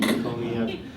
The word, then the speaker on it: McConey: Vince McConey, and that is the actual pronunciation of his last name, McConey. I've heard him very patiently, sort of weather people saying McCone, but Vince McConey, Vince, you're just like